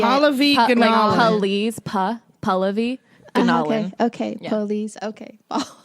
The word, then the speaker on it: Pallavi: it's gonna polish all of these anomalies pas Pallavi no way okay please okay I learned that